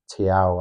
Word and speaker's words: Thiaw: in, Voldemade, Visser, Ilanga, Jacob Ramsey, and that Tiao, I don't even know how you pronounce it, centre back. Yeah, Thiaw.